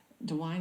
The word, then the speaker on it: DeWine: Guard that was called in by Governor dewine dewine is how you say his name he's the